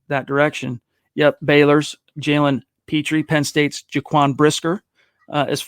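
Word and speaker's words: Pitre: even though he's secondary jaylen peter is that how you say his name scott is it peter petrie petrie thank you i think nfl will undervalue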